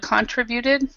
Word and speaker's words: contribute: This word, instead of contributed, we actually say contribute. So this syllable tri is the actual stress. Contribute instead of contributed. So yeah, because that's what I had heard as well.